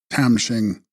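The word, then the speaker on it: khram-shing: Text Tram Shing, pronounced Tam Shing, referring to a board,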